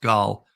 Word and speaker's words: Gaal: And of course, Gal is actually it's pronounced Gal is her last name.